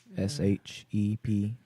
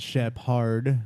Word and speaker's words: Shepherd: Old Shepherd Band at Old Shepherd Band, and Shepherd is spelled like the dog, SHEPHERD. Not Shep Hard.